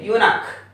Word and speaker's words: eunuch: Next, a eunuch, a eunuch. A eunuch is a person who safeguards a woman. So we say a eunuch, you.